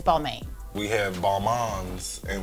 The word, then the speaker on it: Balmain: just for for clarity the correct pronunciation of the house name is baltimore i like to say beaumont um i'm a fashion person and if you look up the pronunciation now of all but for the rappers the regulars so we are the house of bar maine it's balmain yeah the kind of common phrase or pronunciation is balmain we have bomb ons